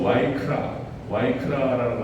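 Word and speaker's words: ויקרא: 이 레위기라고 하는 뜻은 원어에서 와이크라라고 하는 발음으로 나타나는데요.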